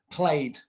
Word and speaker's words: played: Played, no es played. Y-E-D, Y no es D ni es T. Así que no pronuncia ed.